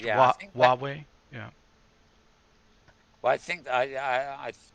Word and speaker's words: Huawei: glasses i i kind of know how to pronounce who who away uh huawei i think that i've heard it pronounced huawei yeah well i think i i i i